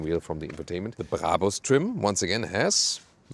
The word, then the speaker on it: Brabus: By the way, listen and repeat, Brabus. It's not Brabus or something. The original German pronunciation would be Brabus. Really hard German pronunciation.